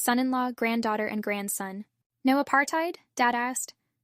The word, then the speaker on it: apartheid: He said the word was mostly mispronounced in America, and that there was an easy way to remember the correct pronunciation. Just say apartheid, he told us.